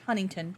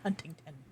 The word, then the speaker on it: Huntington: And it's pronounced Huntington, not Huntington.